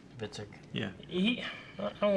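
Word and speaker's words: Hvitserk: Honestly, Vitsirk, is that how you say his name? Vitzik.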